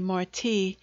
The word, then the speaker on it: Marti: girl or a boy call me marti that my name may rhyme with yours when my conscience re-embodies